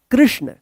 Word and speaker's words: कृष्ण: यहां पे लगा है क में री की मात्रा क्या है, क्री, आधा मूर्धन श, इसको पेटकट्टा स बोलते हैं, आधा है तो जल्दी उच्चारण होगा श। और यहां पे अणा है तो इसको क्या पढ़ेंगे, कृष्ण, कृष्ण।